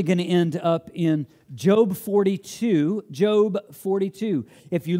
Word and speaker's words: Job: today we're eventually going to end up in Jobe 42 Jobe 42 if you look at in your Bible and it looks like job we don't pronounce it that's not job 42 maybe that's what you do that's job number